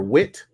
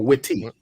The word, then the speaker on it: Witte: It's their Wit. Is it Wit, Rob? WITTE? Wit, yeah, or Witty? It's Wit, just Wit. The E is silent.